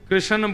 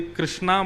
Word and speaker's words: कृष्ण: लाल की जय बंधुओ कई लोग इस नाम को अशुद्ध बोलते हैं कई लोग कृष्ण बोलते हैं कई लोग कृष्ण बोलते हैं कोई कृष्णा बोलता है भगवान का नाम शुद्ध उच्चारण करो नाम क्या है कृष्ण भगवान जय श्री कृष्ण